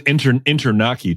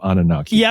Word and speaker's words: Anunnaki: I think he says Internaki too instead of Anunnaki, which is also great.